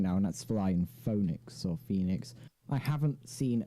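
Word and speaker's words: Fønix: It's Phoenix, F-O with like a line through it, N-I-X. It's pronounced Phoenix though, but like, yeah, it's fine.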